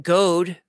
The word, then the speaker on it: Goad: There's Mike Goad, rhymes with toad, $4.99.